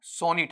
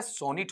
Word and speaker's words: sonnet: एक चीज ये सुनना, जब इसका प्रोनाउंसिएशन आप पढ़ते हैं ना, तो इसका प्रोनाउंसिएशन क्या होगा बताओ, सोनेट होगा या सोनिट होगा? सोनिट होगा, ठीक है। सोनेट वहां पर इसे बोला नहीं जाएगा, इसका टर्म क्या रहेगा बताओ, आपका सोनेट रहेगा।